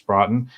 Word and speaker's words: Broughton: really likes the theme, which is by Bruce Broughton. He said I did pronounce his surname correctly.